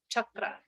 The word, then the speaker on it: chakra: So you've heard us say the word chakra. So it's that hard CH, and if you want to get really correct with the pronunciation, it's a little roll to the R as well. So it's chakra.